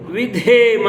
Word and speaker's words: ವಿಧೇಮ: ಇಲ್ಲಿಗೆ ಈಶ್ವರ ಸ್ತುತಿ ಮುಗಿದಿರುತ್ತೆ ನಾವು ಒಂದನ್ನ ಗಮನಿಸಬೇಕು ವಿಧೇಮ ಅಂತ ನಾನು ಎರಡು ಸಲ ಹೇಳಿಕೊಟ್ಟೆ ಕಾರಣ ಅಂತ ಹೇಳಿದ್ರೆ ಧಾಮ ಮಹಾಪ್ರಾಣದಲ್ಲಿದೆ ಎಲ್ಲೆಲ್ಲಿ ಮಹಾಪ್ರಾಣ ಬರುತ್ತೆ ಅಲ್ಲಿ ಮಹಾಪ್ರಾಣ ಉಚ್ಚಾರಣೆಯೇ ಆಗಬೇಕು ಹಾಗೇನೇ ಮಂತ್ರ ಹೇಳುವಾಗ ಅಕಾರ